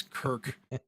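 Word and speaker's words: Cirk: it doesn't matter because it's still pronounced Kirk like it doesn't matter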